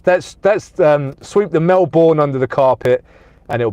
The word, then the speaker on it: Melbourne: from um Chase it it's more like Melbourne Melbourne okay let let me say it like the Australian said Melbourne okay uh nerb says